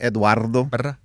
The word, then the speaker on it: Eduardo: Last night, speaking of that, my kids were asking me to roll my R cuz they can't do it. They think it's hilarious when I roll my Rs. Like, what? Saying my name, Eduardo.